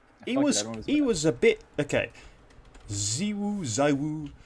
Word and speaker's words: ZywOo: Zywoo. If we're French, he's Zywoo, but whatever. According to French people, we got to pronounce it Zywoo because he's a, I don't know, Englishophile or whatever.